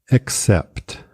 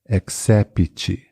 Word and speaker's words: except: Except, except, que é exceto. Cuidado, a pronúncia do P e do T no final é bem sutil. Except, cuidado, não é accept, tá? Except.